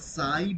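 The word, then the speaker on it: psi: by replaced by এই এটাকে বলা হচ্ছে পি এস আই উচ্চারণটা সাই বা সাই ঠিক আছে সো এই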